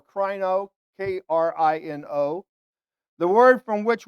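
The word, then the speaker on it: κρίνω: word translated judge is i'll probably mispronounce it krino or crino k-r-i-n-o the word from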